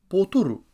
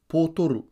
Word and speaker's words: Pōtoru: Wednesday is Pōtoru, spelt P-O-T-O-R-U. Repeat after me. Pōtoru.